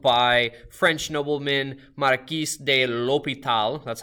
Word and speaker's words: l'Hôpital: the mathematics world by French nobleman marquise de l'hôpital that's how you say it or l'hopital and not actually buying him he actually bought